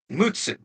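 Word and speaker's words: 六: Now the last one is 6, and the ordinal of 6 is pronounced Mutsu.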